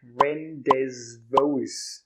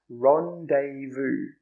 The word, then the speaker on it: rendezvous: How do you pronounce that? It looks like rendezvous, right? Rendezvous. But it's actually pronounced rendezvous.